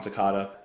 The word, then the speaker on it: Toccata: I hope it's pronounced Toccata. Is like ricotta?